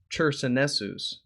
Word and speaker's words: Chersonesus: a churchman taken prisoner during the conquest of Chersonesus. I keep mispronouncing that. Chersonesus.